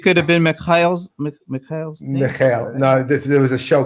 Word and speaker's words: Michal: Just pronounce it one more time. Michal. Michal. Were you ever in the Navy? No. That's, that in Israel, everybody needs to serve in the military service. But why? Which Michal do you know in the Navy?